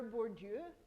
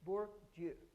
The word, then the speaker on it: Bourdieu: You don't actually have to repeat after, but in your head, Bourdieu. So many of you, I know, it doesn't look like how it's spelled, but Bourdieu.